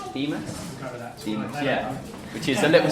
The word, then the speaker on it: Deimos: And the smaller one, which I always pronounce wrong, is it Deimos? Is that right? Deimos? Deimos, yeah.